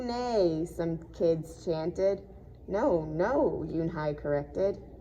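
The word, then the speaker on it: Unhei: No, Yoonhai corrected. It's spelled U-N-H-E-I. It's pronounced Yoonhai. Oh, it's you, hey, the boy said. Like you, hey.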